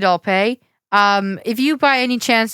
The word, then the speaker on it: Alpay: Who'll pay? David Alpay. Oh shit. No, I think it's pronounced David Alpay.